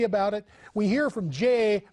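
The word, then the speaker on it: Jeh: it we hear from Jay rhymes with may Johnson it's those Russians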